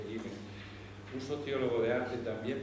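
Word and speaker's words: Gielen: Por otro lado, Pascal Gillen, es un holandés, creo que se pronuncia Gillen, un sociólogo de arte,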